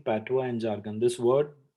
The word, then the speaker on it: patois: So Prithvish is saying patois and jargon. This word, the spelling is Patois, but the pronunciation is drastically different.